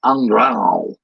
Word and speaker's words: Andrew: Miss Jerry Sparks, she had an ex-boyfriend named Andrew, and he pronounces it Andrao, which sounds very guttural and weird, but he's trying to pronounce it as a Portuguese person.